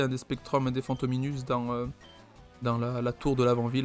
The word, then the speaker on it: Fantominus: Fantôme Minus du coup qui construit autour de Fantôme et de la terminaison US quoi. US. Prononce ous si on suit ce que me disait ma prof de latin de collège.